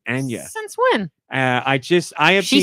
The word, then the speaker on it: Anya: Because, as you know, Chris Pratt is Mario, Charlie Day is Luigi, Anya Taylor-Joy, as apparently you're supposed to say her name, Anya.